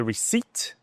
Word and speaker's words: receipt: O que o vendedor, o salesperson, vai te perguntar é Sure, do you have the receipt? Receipt, esse P, ele é mudo, tá?